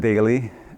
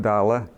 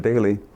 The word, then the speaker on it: Dale: It looks like Dale, of course, but they pronounced it Daly. And I'm sure the original Dailies, the ones who came over from Norway, pronounced it Dala, but that was too difficult for the non-Norwegians, so they said Daly.